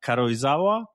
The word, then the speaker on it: Karuizawa: Uh I might mispronounce the name of the city, but um uh Karuizawa?